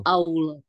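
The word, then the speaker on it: ما شاء الله: Padahal saya masa Allah, Allah harusnya masa Allah gitu. Masya Allah.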